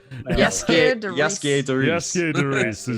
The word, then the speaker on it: Jaskier: Yaskier de Reese.